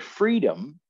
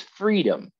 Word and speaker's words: freedom: so in the word freedom we have to be aware and understand that the stress is on the first syllable free right it's freedom not freedom and another example i'm